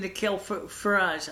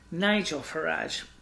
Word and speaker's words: Nigel Farage: I said Nikhil Farage. I should have said Nigel Farage from UKIP.